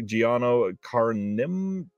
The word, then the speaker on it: Giano Carnimeo: with the writer Ernesto Gastaldi and the director Giano Carnimeo.